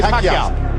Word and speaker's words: Pacquiao: Say Pacquiao.